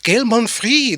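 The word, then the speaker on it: Gaël Monfils: Gail Monfrey. They say the S is silent.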